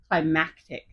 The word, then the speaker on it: climactic: Climactic. Or climatic. climatic. Exactly. It's climactic.